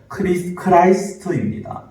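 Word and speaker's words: Christ: 그리스도의 영어 발음은요, 크라이스트입니다.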